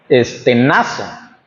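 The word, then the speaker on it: στενάζω: Y la palabra Quejar o quejándose viene del griego este y se pronuncia Es Estenaza Y significa gemimos gimiendo,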